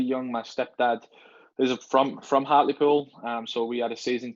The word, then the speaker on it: Hartlepool: Now you mentioned Newcastle United, and then I'm sorry, you're gonna have to pronounce the lower league team that you support again one more time. Hartlepool, Hartlepool.